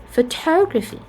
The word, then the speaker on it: photography: case of photograph photograph if we add the suffix the stress is changed to be photography photography so as you can see for Photograph we have the first syllable to be stressed but for the second word photography photography the second syllable is stressed and this also can